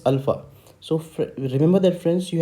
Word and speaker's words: Alpha: it spoken in phonetics it is spoken as a l f a h okay so this is the phonetic spelling of your a so a is called as Alpha so remember that friends